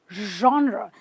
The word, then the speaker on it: genre: its genre genre now pay attention to me i'm not saying neither am i saying a show i'm kind of saying a sound which is a mix of a jar and a shirt which is a r it's called a genre okay now there are